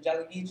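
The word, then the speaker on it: Tsalagi: I'm from the Jalagee tribe. It's Cherokee. It's just how you say it in Cherokee, Jalagee.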